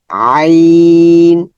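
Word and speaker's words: عين: এটা হচ্ছে আইন আই আইন আইনের প্রথম অংশ কিরকম এই প্রথম অংশ মনে রাখতে হবে আইন এখন আইনের মাখরাজ কোথায় হলকের মধ্যখান হইতে ওই হা এর মত হা আইন আই আইন আইন ঠিক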